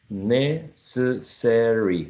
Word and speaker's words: necessary: right the next one it could be with four or three syllables necessary or what you think necessary four syllables what if you try